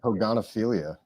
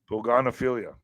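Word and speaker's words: pogonophilia: wider outbreak of of Poganopilia. Love of beards. I don't know if I said that correctly. Pogan affiliate. How do you say that, Alex? Poganilia. Where is it? Love of beards. P O G O N O P H I L I A. Oh yeah. Poganophilia. Yeah.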